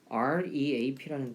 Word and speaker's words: reap: 왜냐면 REAP라는 단어가 있어요. REAP. 이것도 reap인데 R 발음이라서 reap, reap. 이건 leap, leap 이게 차이가 있는데 이 reap는 이게 뜻이 수확하다예요.